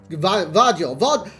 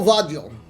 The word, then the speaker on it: Gvardiol: But it's not a U, it's a V. So is it GVARDIOL? GVARDIOL. I reckon it's your score, Vardiol.